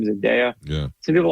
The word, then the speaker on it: Zendaya: Zendaya, ever pronounce her name? Zendaya.